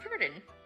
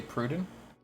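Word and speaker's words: Perdan: My name is Purdon. Say Pruden? Purdon, like P-E, hold on. Purdon. Spell it. Yeah, Okay. P-E-R-D-A-N. Purdon.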